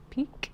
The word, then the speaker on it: piqued: By the way, that's spelled P-I-Q when you talk about your interest is piqued. Peak.